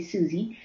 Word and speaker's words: Suze: So my name is, in Dutch we pronounce it as Suze, and in English you would say Suze, of course.